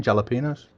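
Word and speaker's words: jalapeños: You know, in some places in this world, they don't pronounce the J in jalapenos.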